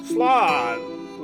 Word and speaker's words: Slán: One dialect would pronounce it as ma-gra. Okay. Slán, losers.